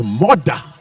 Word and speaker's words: Murdah: Which, if you're from Scotland, it's all right, it's Murdah.